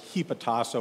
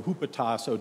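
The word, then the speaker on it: ὑποτάσσω: The Greek word, you maybe have even heard this preached on, is hypotasso or hupotasso, depending on how you want to pronounce it.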